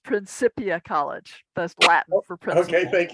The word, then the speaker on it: Principia: say is I oh I my college is pronounced principia College that's latinum okay thank you yeah you're